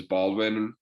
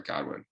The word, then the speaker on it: Godwin: is it um sorry I always get his name wrong it was Baldwin or a good one sorry Godwin jeez all right Baldwin uh